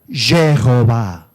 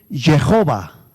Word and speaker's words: Jehová: necesitamos ponerle qué vocales si yo le pongo e o a leería Jehová si yo le pongo